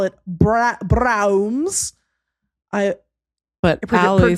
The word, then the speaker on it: Braum's: I like to call it Braum's.